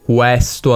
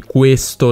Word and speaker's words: questo: al posto di bene questo al posto di questo le vocali aperte chiuse che non corrispondono allo standard italiano se non lo sapevate